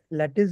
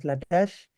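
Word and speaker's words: Latisse: And I was taught that the eyelashes will also lengthen, and that's how the company marketed a product called Lattice, or pronounced as Latash.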